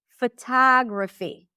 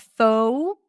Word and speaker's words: photography: Photography. Fwah, right? Can you hear it? It's not. It's not faux.